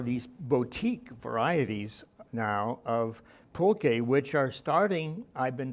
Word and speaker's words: pulque: And I understand that there are these boutique varieties now of pulque, which are starting, I've been told, to make a comeback in terms of, people wanting to try some of these exotic beverages.